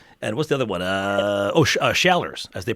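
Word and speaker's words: Schaller's: Shallers, as they pronounce it in Rochester.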